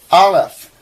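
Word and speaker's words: aleph: Bait bash r alf. They they actually say it's a silent letter.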